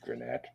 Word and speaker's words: Granette: So the Granite that's I would say that's pronounced Granette.